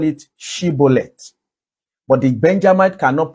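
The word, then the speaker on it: shibboleth: them to pronounce a word they call it shibolet but the benjamite cannot pronounce shibolet they are like the the Y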